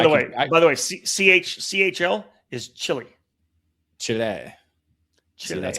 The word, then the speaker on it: Chile: Chile.